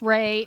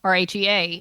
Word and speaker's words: Rhea: And what's funny is her name is Ray. My friend's name is Rhea, but they're spelled the same way, R-H-E-A. And I was like, Rhea, Ray.